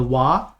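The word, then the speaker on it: は: often than not but it you know we have the W you know we have the ha that's pronounced W but only when it's as a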